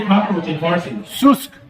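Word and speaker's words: سوسک: Susk. Susk.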